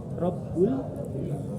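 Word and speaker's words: رَبّ: Rabb itu harus ditekan, ada tasdidnya. Alhamdulillahi Rabbil. Kalau bacanya begini, kalau yang salah begini, yang sering terjadi. Alhamdulillahi Rabbil, enggak ditekan. Yang benar Rabbil. Jadi itu ada dua ba yang berdekatan, yang pertama sukun, yang kedua hidup.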